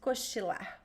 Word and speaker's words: cochilar: So it's the same verb in Portuguese, cochilar. Also with the ch, so be careful with the pronunciation, okay?